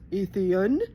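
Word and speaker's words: Eðian: especially if you were an atheen pronounced Athan for those of you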